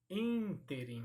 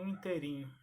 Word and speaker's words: ínterim: Então são as pronúncias corretas dessas palavras. E para paroxítona, bávaro e não bavaro. Arquétipo e não arquetipo. Ínterim, que causa dúvida, e não interim.